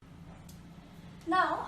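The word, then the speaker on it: non: fortress wee-wee means yes this is no which leads you know as we say it in English but we write it as an O n now the next one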